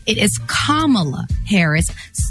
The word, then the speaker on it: Kamala: name correctly it is kamala harris like a comma in a sentence and that's today's topic